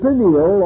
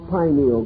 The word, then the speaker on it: pineal: The pineal or pineal gland, either pronunciation is correct, located in the central part of the brain, still remains the mystery gland of the human body.